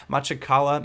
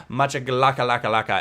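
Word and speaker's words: Makhachkala: Now, obviously, there's a chance I could have mispronounced that, but I think it's not. It's kind of close to what it's supposed to be. Machakala, maybe. I don't know. It's not Machakalaka, as some people like to say.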